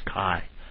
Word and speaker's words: chi: I'm emphasizing this is I really want you to know how to pronounce Kai Square now let's use our